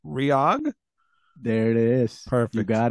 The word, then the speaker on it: REOG: from the band let's see if I can pronounce the band's name right ryog there it is perfect got it now where